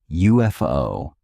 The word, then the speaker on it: UFO: The abbreviation UFO is pronounced UFO starting with a J sound which is a consonant sound.